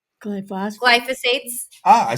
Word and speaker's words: glyphosate: I've got in my notes that your vineyard is free of glyophates. H glyphosate.